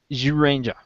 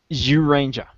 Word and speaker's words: Zyuranger: Because it's spelt with a Z, but the Japanese, the way it's in Japanese, it's kind of a J-U sound.